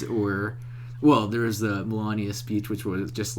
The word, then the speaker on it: Melania: They were playing, like, both Melania's speech.